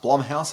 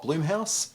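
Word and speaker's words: Blumhouse: couple of things one it's pronounced Blum House and not bloom House of Jason Blum the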